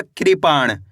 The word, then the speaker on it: कृपाण: अब आगे देखिए, का में री की मात्रा क्री, पा और अणा मिलके बन जाएगा कृपाण।